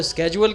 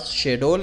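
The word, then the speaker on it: schedule: तो चले जी, बाज़ लोग इसको स्केजुअल कहते हैं, बाज़ शेड्यूल कहते हैं, जो भी आप इसको प्रोनाउंस करें आपके मर्ज़ी।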